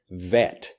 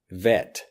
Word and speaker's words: Vette: shorten this one but it becomes vet vet vet so you can see I Drive a Vette where I really want to buy a vet so Corvette becomes vet next IBM IBM now